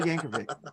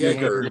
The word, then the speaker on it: Yankovic: So Weird Al Yankovic. Is that better? Did I say it right Yes, there? Yeah, sir. Yankovic. Yeah, not Well, Yanker.